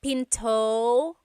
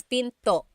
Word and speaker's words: pinto: Tagalog is Pinto p and remember don't forget the gladle stop don't forget to stop the sound at the end that's called a glottal stop Pinto Pinto it's not Pinto it's Pinto stop it at the